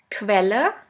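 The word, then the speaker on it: Quelle: The next one is ku which is pronounced like the letter combination k and v. Let's have a look at the example. Quella.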